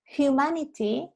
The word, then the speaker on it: humanity: Humanity va con una aspiración inicial. La H en humanity es aspirada, no es muda como en inglés.